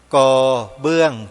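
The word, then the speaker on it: กเบื้อง: การ แล้ว นะ โยม ก เบื้อง จาน ไม่ ใช่ กระ นะ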